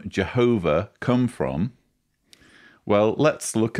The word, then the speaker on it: Jehovah: Jehovah is the best known English pronunciation of the divine name, although Yahweh is favored by most Hebrew scholars.